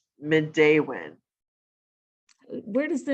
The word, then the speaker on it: Midewin: people are challenged with how do you say midday when some people say mindwen or middlewin um and midday win where does the name